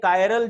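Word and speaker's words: chiral: अब ये कायरल जो चीज है, इसको आप चिरल भी बोलते हो कुछ लोग, लेकिन इसका सही प्रोनाउंसिएशन कायरल है।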